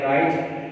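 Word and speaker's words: write: यहाँ पर देख लें आप एच की आवाज़ है मगर डब्ल्यू की आवाज़ नहीं है, यहाँ पे डब्ल्यू की आवाज़ नहीं है, राइट, यहाँ पे रॉन्ग।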